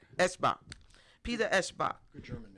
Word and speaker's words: Eschbach: Eschbach.